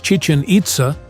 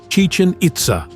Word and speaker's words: Chichen Itza: in the 16th Century it is pronounced the same as the Mayan language the Mayans used hieroglyphic